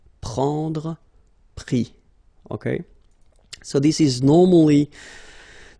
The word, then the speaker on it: pris: And then prendre, so ENDRE will give IS, pris, okay. Same thing here, you don't pronounce the final S, okay.